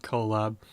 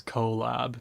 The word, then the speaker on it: Colab: collaborate and laboratory so the pronunciation for that i think is collab because it is spelled code plus lab essentially or cl coplos like a laboratory so um but that's